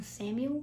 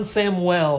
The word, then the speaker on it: Samuel: evans who's this juan samuel one samuel juan samwell that's how you pronounce that he was a second